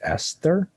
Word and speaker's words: Aesthir: I guess Yes. that's pronounced Esther.